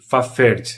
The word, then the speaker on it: Fafhrd: Um é o Fafhrd, se escreve F-A-F-R-H-D, Fafhrd.